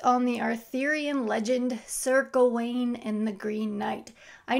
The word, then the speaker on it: Gawain: But yes, The Green Knight, based on the Arthurian legend Sir Gawain and the Green Knight. I know everyone and their dog has a different pronunciation for Sir Gawain.